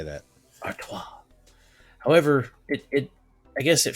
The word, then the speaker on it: Artois: Artois.